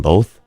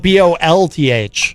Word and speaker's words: both: Some people put an L. Some people pronounce it BOLTH.